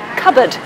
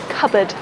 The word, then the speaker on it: cupboard: One example would be cupboard. It's got two schwas, cupboard, cupboard. So watch out for that, cupboard, not cupboard.